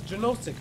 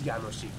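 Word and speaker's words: Jánošík: does josic mean you know what you for mispronouncing it it's yanoshi that was like the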